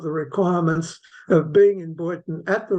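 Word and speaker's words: Beuthen: It's just been recorded in Hungarian spelling, but it's the sounding is exactly the same as the German B-E-U-T-H-E-N, which is pronounced in German Boyton.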